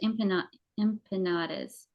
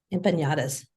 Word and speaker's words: empanadas: And I'm telling you, she served, well, first of all, she served empanadas. How do you say that word? Empanadas.